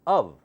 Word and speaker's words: of: line the first word now listen carefully it's pronounced as of almost like UV of not off okay of a friend of mine a friend